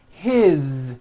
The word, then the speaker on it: his: His, same thing. It also has a voiced Z ending.